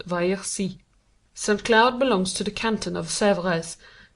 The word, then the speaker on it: Versailles: Saint-Cloud is 7 miles west of the centre of Paris, and almost 10 miles by rail on the road to Versailles, pronounced Vaillorcy.